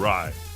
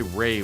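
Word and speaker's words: Rai: Wait, how do you say his last name? Ry. Aaron Ry. Why can't I be like him? Cuz I want to say Ray when I see it.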